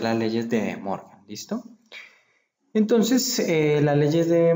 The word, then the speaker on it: De Morgan: Muchas personas les dicen las leyes de Morgan, pero en realidad se debe pronunciar las leyes de Morgan, ¿listo?